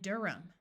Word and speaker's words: Durham: the H sound disappears there are some names where the H is silent John and Durham if a word starts